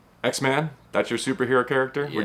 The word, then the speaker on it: Xavier: But it is X-Man, even though it's Xavier, not Exavior. Do I have that right? Yes. Okay, good. I'm always a stickler for pronunciation, so I want to make a make sure I get I appreciate that cuz most people always say Exavier.